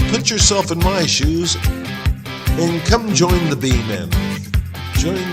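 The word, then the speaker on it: Alnwick: Several movies have been filmed here, including Harry Potter, Robin Hood, and Elizabeth. We have a few minutes left, so we explore the old town of Anic.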